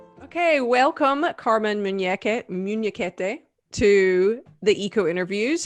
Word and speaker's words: Munhequete: so that that can be corrected actually you pronounce it well it's muneket carmen is a senior consultant and a mozambican